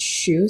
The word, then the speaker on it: Xu: And you know, my last name is pronounced shoe.